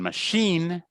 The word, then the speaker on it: machine: And finally, sometimes an I is pronounced as a ni too, as in machine or police and ski.